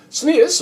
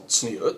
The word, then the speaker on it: Tznius: Tznius, or Tzniut, depending on your pronunciation, is a Hebrew word that's often translated as meaning modesty.